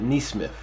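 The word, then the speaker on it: Nesmith: player aaron knee smith i would have thought it was nessman but i think i've been watching a little bit of nothing he's been getting run lately so they said pronounce it nice smith so sent to the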